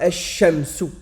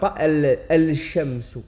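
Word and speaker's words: الشمس: Comme ici, avec le shin ici, on dira ash-shamsu et on ne dira pas al-shamsu. On ne dira pas al-shamsu. Pourquoi?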